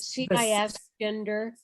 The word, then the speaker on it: cisgender: Is it CIS gender? Cisgender. Yeah, cisgender. And it's not a term that I know well enough to define, but I've heard it before, cisgender.